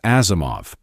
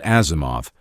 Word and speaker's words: Asimov: Isaac Asimov explained it in 1979. Take three simple English words, has, him. Of. Say has him of in the ordinary fashion, leave out the two H's and you have Asimov.